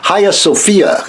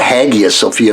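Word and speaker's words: Hagia Sophia: called the hi-yaah - look how to pronounce that hiya Sophia I was called haghia sophia because that's how it's spelled h Agia the highest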